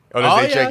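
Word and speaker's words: Oleksiejczuk: Yeah, maybe it's the Olachinik brothers. How do you say their name? Olazechek? Olazechek, yeah.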